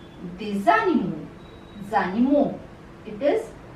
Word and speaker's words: des animaux: Plural form, the sound that follows in between is Z, Z. So this becomes, obviously it is written as they, avion, but together they are pronounced as des avions, des animaux, zanimo.